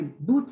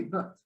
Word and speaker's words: but: So like in the case of but, You don't say boot, you don't say but, you don't say bet, you say but.